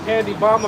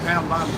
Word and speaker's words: Pam Bondi: Uh, Candy Bomb about the Pam Bondi.